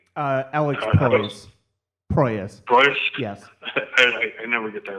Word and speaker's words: Proyas: How do you pronounce his last name? Alex Proyas. Proyas. Proyas?